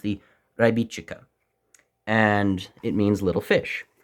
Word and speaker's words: Rybička: is a traditional Checkmate knife and while it is spelled to us American or Canadian Western viewers it would be the rybika knife but I actually consulted the proper translation